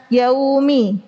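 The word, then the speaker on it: يَوْمِ: Memasukkan huruf O pada kata yaumi. Jadinya bacanya gimana? Yaumi. Maliki yaumiddin. Nah, itu sering juga nih. Yau. Hati-hati ya. Bukan ya, tapi yau karena dia sifat lin.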